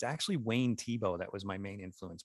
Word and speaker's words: Thiebaud: But you had mentioned earlier that, you know, you see a Norman Rockwell vibe, but what's really interesting is it's actually Wayne Thiebaud that was my main influence back then.